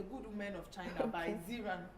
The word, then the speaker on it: Xinran: The Good Women of China by Ziran. Ziran is X, so I don't know if that's how they mention it. Because of the, I know people who pronounce X as I, so you don't.